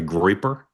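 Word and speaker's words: Groyper: even though you might be, how do you pronounce that, a groiper?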